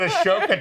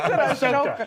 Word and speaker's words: Ahsoka: You said Ashoka Tano. Ahsoka. Is it Ahsoka? Yeah, the H is silent.